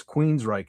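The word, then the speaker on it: Queensrÿche: And suddenly everybody Queens then all of a sudden people knew how to pronounce Queens Reich and they were straight as an arrow.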